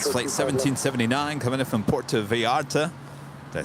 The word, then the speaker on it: Puerto Vallarta: Puerto Vallarta. Yeah, it sounds much better. I like that little trill on the R.